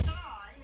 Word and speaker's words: stein: My father pronounces it Stein. That's how I pronounce it. Good morning, I'm Rod Rosenstein. But I actually have relatives who pronounce it Steen, so I'll answer neither one.